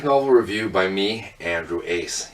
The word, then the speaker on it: Uys: hello and welcome back it's another graphic novel review by me Andrew Ace you spell my last name u-y-s but yep it's pronounced Ace you can find me online Twitter Instagram the whole shebang at uys 999.